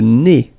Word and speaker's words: nez: Le nez. So remember when you get this combination, EZ here at the end of a word, it's E.